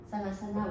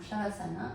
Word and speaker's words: Savasana: Donc Savasana ou Shavasana selon la prononciation que l'on choisit.